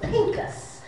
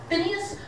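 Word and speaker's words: Phinehas: his name was um that called to call him phineas but his name was pinkus so it's it could be pronounced phineas or pinkus and his name meant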